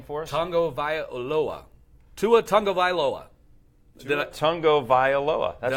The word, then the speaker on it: Tua Tagovailoa: You want to pronounce that name for us? Tua Tagovailoa.